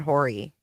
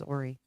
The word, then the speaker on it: Horry: We said Horry, and then they told us it was Horry.